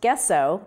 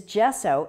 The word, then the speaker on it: gesso: gesso is spelled with a g it's not pronounced gesso they'll laugh at you if you ask for the gesso it is gesso it's an italian word that means chalk so